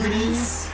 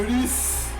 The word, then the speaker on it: Gris: Gris. La pronunciación está medio rara, ¿no? Gris. Como si fuera japonés. Gris.